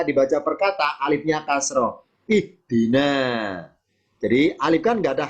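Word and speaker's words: اهدنا: Kalau ketiga kasroh, alifnya ikutan kasroh. Ihdi. Nah, itu bacanya.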